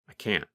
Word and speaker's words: can't: When we say the positive form, we pronounce the letter N longer. The N sound, n, n, n, lasts longer than in the negative form.